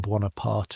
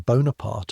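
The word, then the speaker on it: Bonaparte: and Paris, which 3 months ago barely knew the name Banana Aart and mispronounced it when it did, is saying Bonapart on every corner, and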